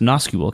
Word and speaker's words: NoSQL: It's pronounced NoSQL, Casey.